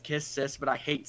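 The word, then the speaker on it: Kiss×Sis: This one is Kiss X Sis. Yes, sir. Or it's actually pronounced Kiss Sis, but I hate saying that.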